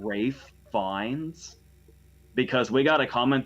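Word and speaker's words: Ralph Fiennes: I haven't spent a lifetime of watching and learning from movies to mispronounce Rafe Fiennes' name.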